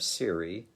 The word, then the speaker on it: Siri: i first heard of siri which rhymes with the word cherry siri being the virtual